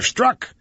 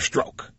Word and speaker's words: Strzok: It's either Peter Strzok or Peter Stroke.